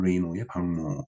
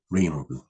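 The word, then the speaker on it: Reynaud: 1895년에 루미에르 형제의 시네마토그라프는 샤를 에밀 레이노의 발명품을 능가하여 그 에밀을 파산으로 내몰았다. 그러니까 이 샤를 에밀 레이노드, 이 프랑스이기 때문에 이 D 발음을 안 하는 모양이네요. 샤를 에밀 레이노.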